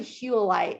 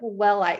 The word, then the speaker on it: Huite: read about willite or it's actually huite if you really want to know it looks like willite because it's spelled with a H but it's named after a geologist and his name was spelled that way but it was pronounced hu so it's huite um and that is